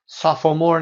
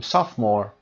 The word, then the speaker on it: sophomore: frightening این ای دیگه تلفظ نمیشه. business. comfortable. temperature نمیگیم temperature. sophomore نمیخونیم sophomore.